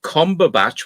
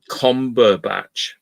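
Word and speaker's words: Combach: Oh, combatch was the name of a village in Cheshire where the surname originated. Ah, combatch. Oh, but it's spelled B A C H without the T.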